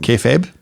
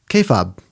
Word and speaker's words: kayfabe: oh oh yeah but she was passionate about our mispronunciation of kayab yeah which I called KOB because I introduced the